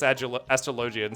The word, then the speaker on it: Astrologian: I think it should be pronounced like astrology. What? Astrologian with a hard G? I'm not saying that. Yeah, I would have thought like astrologian or something like that.